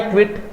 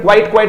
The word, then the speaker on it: quit: देखो बच्चों, एक तो वर्ड आ गया QUIT, बड़ा प्यारा वर्ड है क्विट, वर्ब है। पहले तो प्रोनाउंसिएशन देख लो इसका, क्विट करना। प्रोनाउंसिएशन पर हमेशा ध्यान देता हूं, लगभग स्टूडेंट क्वाइट बोलते हैं, जिसका मतलब छोड़ना होगा।